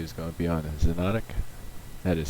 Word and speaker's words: Xonotic: Welcome to Meganet Gaming, and today's review is going to be on Xonotic. That is spelled Xonotic.